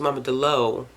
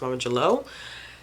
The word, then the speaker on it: Mama Jalou: name of Mama Jalou, which I thought it was Mama Delou, but it seems like the way that Robin Miles was pronouncing it was Mama Jalou, and with the G.